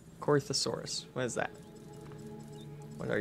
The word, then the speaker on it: Corythosaurus: Alright, Coriosaurus. Corythosaurus.